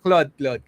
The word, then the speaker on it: Claude: How do you pronounce it? Cloud or Claude? Wala, Claude.